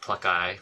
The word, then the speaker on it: Pluckeye: Well, so Pluggy is spelled Pluckeye, like Pluggy.